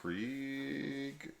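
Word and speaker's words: Krige: So the woman in this, Alice Krieg, yeah, said it right.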